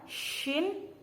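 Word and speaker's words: ش: Huruf shin ini harus beda dengan sin. Ini harus besar, shin. Seperti itu. Bacanya harus shin, sha seperti itu.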